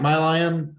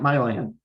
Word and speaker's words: Milan: about business right um Mike my lion actually Mike my land I always get his name wrong when I say it even though he's taught me told me a hundred times you say it this way but it's Mike Milan he actually served he